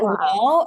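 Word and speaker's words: و: So that wow is basically Arabic wow. Is it the same pronunciation? Yeah, it is Okay. exactly the same.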